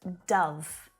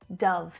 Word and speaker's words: dove: right and it's pronounced dove ah dove it's that short vowel sound but this word is